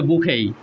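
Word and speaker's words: bouquet: বউ কুয়েট এটা বউ কুয়েট না এটা হচ্ছে বুখেই বুখেই যার বাংলা হচ্ছে ফুলের তোড়া বুখেই মানে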